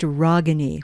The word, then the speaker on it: Ragani: pronounce your name okay it is pronounced ragani with the ah sound from the heart ragani i was given this